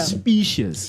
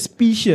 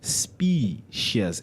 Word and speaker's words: specious: Spacious. You said spacious. No, it's specious. No, when I when I said the word, you said comes back. The word is pronounced specious as in like species, right?